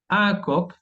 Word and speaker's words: coq: Seguimos avanzando ahora con la letra Q qui se prononce. Tenemos cinco, un coq, el gallo, fac.